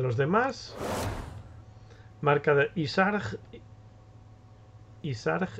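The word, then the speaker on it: Y'Shaarj: Isarg, en inglés lo pronuncian Yasarag. O Yasarg, o algo así raro.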